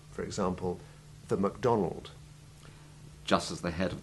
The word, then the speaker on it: MacDonald: Generally, as you have just heard, the prefix is unstressed and has the short A2 Ivy sound, except where the English have imposed their own pronunciation on the Macintosh and its inventor's name.